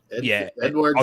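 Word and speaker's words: Édouard: Yeah, like Edson Edouard, he looked. How do you say his name? Edward's his second name.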